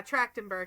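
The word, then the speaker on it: Trachtenberg: uh actress in Ice Princess, Michelle, is it Tractenberg? I I always Yeah, Tractenberg. I always fear I'm going to mispronounce it, but passed away um like super young recently.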